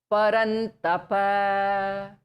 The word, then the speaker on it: Parantapa: Okay, Parantapa. So Ra is touching the Murdha part. Don't leave that place at all.